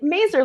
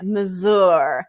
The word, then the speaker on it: Mazur: So I'm always like, Mazur like laser, because everybody wants to make it Mazur.